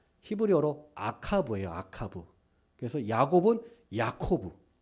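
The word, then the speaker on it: יעקב: 그래서 야곱은 야코브 발음이 비슷합니다.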